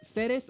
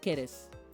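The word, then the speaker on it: Ceres: So in Japanese, it's pronounced both ways. It's pronounced both seres and keres.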